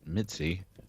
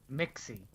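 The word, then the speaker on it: Mixxy: our can attract okay Ben harp and her Mitzi Mitzi Mitzi Mixy Mixy got it I'm gonna change that on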